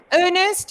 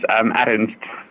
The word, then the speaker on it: Ernst: Ernest? How do I pronounce your name? The correct pronunciation is Ernst. Ernst.